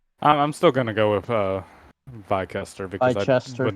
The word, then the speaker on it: Bicester: You pronounce this one Bister. Oh, it's just Bister. Oh, so the from. C is silent.